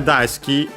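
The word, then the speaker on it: 大好き: While da ski is accented actually on the da.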